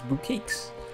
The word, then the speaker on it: bouquet: I mean, it ends with an E, so obviously it should say end with a capital A sound, long A.